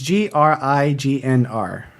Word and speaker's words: Grignr: It's Grignr. It's like a wolf with a throaty growl. So it's like a throaty N sound with an R color to it, which I don't think exists in most languages.